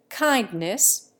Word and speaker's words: kindness: Kindness, with the D silent, would attract notice in the United States.